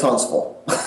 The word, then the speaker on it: Huntsville: different than I was I tend to say Huntsville because that's the way we spell it but that is not the way we say it no it's Huntsville okay you're right it's spelled Huntsville uh I guess if you live there long enough the tea becomes kind of semi silent okay and that v